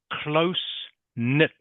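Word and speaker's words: close-knit: so this is pronounced close knit close knit can you say that please Wang Hong closeit good close knit okay the K is silent one of these words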